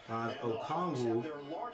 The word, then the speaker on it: Okongwu: Okongwu. That's how you say it.